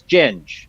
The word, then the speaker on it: Ginge: The actual pronunciation. It is Ginge, but I do go by Ginge.